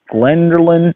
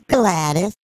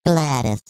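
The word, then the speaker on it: Gladys: I'm not getting this yes it's is it glenerin I'm not pronouncing it right I'm not sure oh that's all right it's gladus g l a d Ys glattus glattus there you go that's the word glattus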